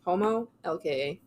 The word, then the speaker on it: Homolka: Spell it out. How are you saying it? Homo, LKA.